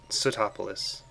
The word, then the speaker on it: Sootopolis: So I'll be waiting for you in Sootopolis.